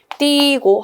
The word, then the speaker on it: 띄고: 띄고 쓴다 할 때 띄고는 띠 자음 뒤에 의죠, 얘는 자음 뒤에 의. 자, 자음 뒤에 의는 2로만 발음한다고 했기 때문에 띄고 하나로만. 여기 아까 자음 뒤에 의는 2로만 발음한다 했죠? 그래서 띄고 한 가지 발음만 갖는 거 맞습니다.